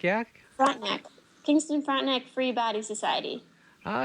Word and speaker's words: Frontenac: Frontenac, yeah. Frontenac.